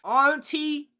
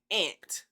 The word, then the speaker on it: Auntie: So, I got a little knickknack against people who say ant. All right. Tell me where in the word aunt do you see ant? Ant is spelled a n t. It is a u n t i e. Where do you see ant? You're forgetting the you.